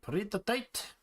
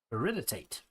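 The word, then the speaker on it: peridotite: This is the partoate. Peritate. That's how that's pronounced.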